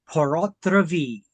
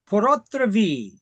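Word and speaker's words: pur autre vie: I'm like, no, if it was French, it would be P-O-R. This is P-U-R. Yes, it's pronounced the same.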